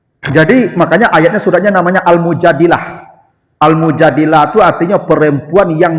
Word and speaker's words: Al-Mujadilah: Jadi, makanya ayatnya suratnya namanya Al-Mujadilah. Al-Mujadilah itu artinya perempuan yang mendebat Nabi. Mujadilah itu perempuan yang mendebat Nabi. Ada yang membacanya al-mujadalah. Kalau al-mujadalah itu masdar, perdebatan nantinya. Kalau almujadilah wanita yang mendebat Nabi.